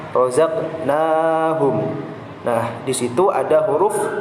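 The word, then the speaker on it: رزقناهم: sukun pada tengah kalimat, maka cara membacanya itu memantul, namun kecil sekali. Kecil saja memantulnya. Seperti contohnya razaqnahum, razaqnahum, razaqnahum.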